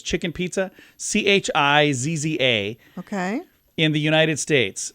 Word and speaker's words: Chizza: Yeah, this week, KFC debuted the Chiza, I think is how you say it. It's chicken pizza, Chizza.